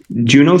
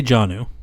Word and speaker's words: Jonnu: So the Steelers acquired Jalen Ramsey, Juno Smith, and a 2027 seventh round pick. Did you say Juno? How do you say it? I say Juno. I say Jonnu. Like it's supposed to be.